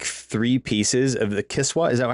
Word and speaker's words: Kiswa: sent Jeffrey Epstein, like three pieces of the Kiswa, is that how it's pronounced?